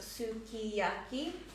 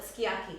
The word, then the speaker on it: sukiyaki: It is in Japanese phonetics pronounced sukiyaki, but we always call it sukiyaki because often the U and the SU gets dropped, the U sound gets dropped.